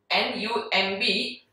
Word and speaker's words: numb: N-U-M-B, but once again the B is silent, the word is, the pronunciation is numb.